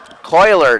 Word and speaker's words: Kohler: 17-yard pass there to Adam Kohler, or Kaler. Coiler, they're going to tell us it's pronounced.